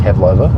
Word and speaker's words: pavlova: Um, pavlova is how you say it.